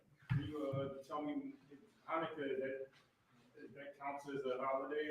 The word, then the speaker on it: Hanukkah: And the brothers can explain it to you about the different traditions that are associated with Hanukkah, or Hanukkah to be correctly pronounced.